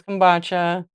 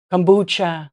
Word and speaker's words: kombucha: This is kombucha. Kombucha, actually. I said it wrong.